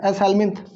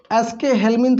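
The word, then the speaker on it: Aschelminthes: एस हेल्मिन्थ, एस हेल्मिन्थ, बहुत सारे लोग इसको एस के हेल्मिन्थ भी कहते हैं। प्रोनाउंसिएशन अपने अपने अलग अलग हो सकते हैं, इसमें कोई बहुत बड़ी बात नहीं है। एस हेल्मिन्थ या एस के हेल्मिन्थ, जो भी आपको कहना वो कह लीजिए।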